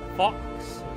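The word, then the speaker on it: Fawkes: follow the Journey of fox f a w k s fox fox fox I'm say fox like if X Fox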